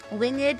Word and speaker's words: winged: Winged is pronounced the same as dreamed.